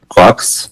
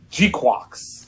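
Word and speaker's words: GQuuuuuuX: Quox? Yeah. Is that how it's said? I thought it was like G-Quox. I think it's supposed to be pronounced like quarks, but a Japanese person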